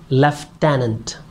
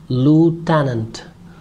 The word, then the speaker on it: lieutenant: say it leftenant but the right British pronunciation of the word is leftenant leftenant and Americans say it as lieutenant lieutenant leftenant and lieutenant